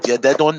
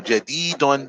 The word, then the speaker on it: جديد: Jadadun. No, jadidun. جديد. Okay. هذا هذا طالب طالب. طالب. هذا طالب جديد جديد. جديد. The elongation is after the ta, and the elongation is after the del in the second word.